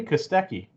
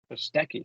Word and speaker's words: Kostecki: Brody Kostecki. Kostecki.